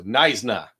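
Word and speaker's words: Knysna: The K is silent. So, Nisna.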